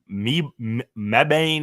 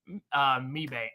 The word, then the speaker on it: Mebane: We're coming to you live from Mebane, North Carolina. and this Let week, me see this word. Mebane.